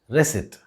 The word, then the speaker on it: receipt: Remember, the P in this word is silent and it should be pronounced as receipt.